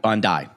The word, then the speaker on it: Bondi: Bondi.